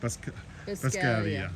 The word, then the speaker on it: Buscaglia: Biscaglia. Okay, Yeah, the because- G is silent, like lasagna.